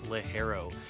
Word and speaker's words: ligero: come from is Leo you might have seen this written as l i g e r o pronounced leero uh you can remember this uh because you got hair on your balls and Le hero can give you our cigar some balls so Le hero is